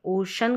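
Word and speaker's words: ocean: यहां पर ओशन करके पढ़ते हैं।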